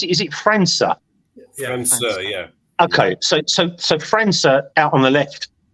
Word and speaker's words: França: How do you pronounce it? Is it França? França, yeah.